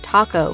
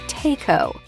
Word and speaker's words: taco: Americans butchered the pronunciation of taco back in the 60s, often ordering a taco. It's taco! Taco!